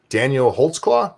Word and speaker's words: Daniel Holtzclaw: Daniel Holtzclaw.